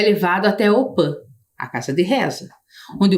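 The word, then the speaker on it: opy: participam sempre da op embora a gente escreva aqui opi que é a casa de reza a pronúncia correta é opan Principalmente as crianças pois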